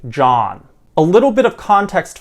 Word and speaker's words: John: man or a woman students learning english often pronounce both these names very similarly or many times even exactly the same by pronouncing both as joan which is the long o used for the woman's name joan however this is not true for the man's name john a little bit of